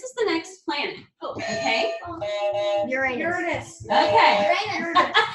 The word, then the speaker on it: Uranus: Uranus. Okay. Uranus. It's, this is the one everybody loves to say because you can sound somewhat dirty when you say it. It's Uranus. That's the way to say it.